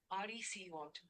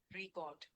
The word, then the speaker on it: record: Depending on whether it is used as a noun or verb. As a noun, the stress is on the first syllable, record. As a verb, the stress shifts to the second syllable, record.